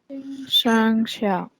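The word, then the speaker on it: 生肖: chinese zodiac sign so in chinese it's uh pronounced as shang xiao so that is a chinese word for the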